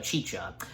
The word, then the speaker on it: Chicha: again, being voiced by good old John Goodman, Chicha, and yes, that's how her name is pronounced, Chicha.